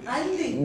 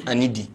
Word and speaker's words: Anidi: call is not okay Andy they have a funny way of pronouncing our names my name is anidi but they like Andy